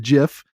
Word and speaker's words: GIF: It's totally the popcorn meme, or the GIF. And yes, it's pronounced GIF.